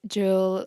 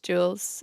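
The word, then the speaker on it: Jules: pronunciation because I said jewels biani and in French I mean in Irish we would like say Jewels you know in English whatever but in French it's juwel so if that offended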